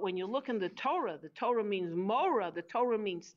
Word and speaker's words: Torah: Look into the wisdom of God, the guidebook called the Torah, which rhymes with Mora, which means teachings.